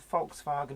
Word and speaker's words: Volkswagen: photo look as a fox wagon and passer and most people don't hear that because they expect to hear Volkswagen but I pronounce it as per the German way because that is just